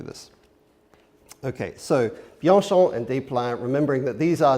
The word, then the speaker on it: Desplein: And the other guy is more difficult because we don't pronounce that S, right? And it's, okay, so it's two syllables. It's not Desplein or anything like that again.